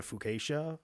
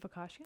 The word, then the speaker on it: focaccia: I have made a focaccia. Is that Ooh. the right way to say it? Focaccia?